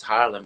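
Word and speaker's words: Haarlem: born in palem it's Harlem and and um it's the same as Harlem you know in New York except it's got to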